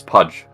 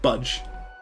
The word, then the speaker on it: Pudge: The plan is Pudge, same as always. not roster change, not same players, just Budge.